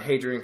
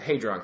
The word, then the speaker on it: Hadron: uh story about the Hadrian collider okay the Hadron Collider I keep Miss pronouncing it okay the hron collider